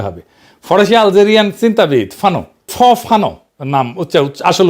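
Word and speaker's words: Fanon: লড়াই করা মানুষটা পরের জনকে দেখায় কিভাবে লড়তে হবে ফরাসি আলজেরিয়ান চিন্তাবিদ ফানো ফানো নাম আসল উচ্চারণটা উনি বলছিলেন পরাধীন জাতিগোষ্ঠী লড়াইয়ের ভিতর দিয়ে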